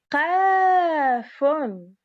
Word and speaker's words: ق: Qaf is one of the letters that doesn't really have a counterpart in English. It can actually be pronounced like a K with the tongue farther back, with the tongue like K.